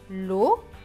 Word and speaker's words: local: Le C va se prononcer que parce qu'il y a le A juste après. Donc, que et al. Cal. Donc, ce mot se prononce local.